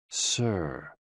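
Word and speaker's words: sī: SI, pronounced like sir, with a slow exhale, which is associated with the lungs.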